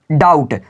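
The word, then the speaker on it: doubt: पर डाउट क्या है डाउट देखिए टी से पहले बी आया है तो बी हमारा बिल्कुल आवाज़ नहीं निकलेगा इसी का कैसे पढ़ेंगे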